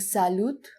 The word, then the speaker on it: salut: In French, we do not always pronounce the last letter. So instead of saying salut, we say salut, salut, hi or hello.